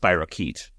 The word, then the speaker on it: spirochete: Not from experience, but one could assume that a doctor would tell you or somebody else that it's pronounced spirochete.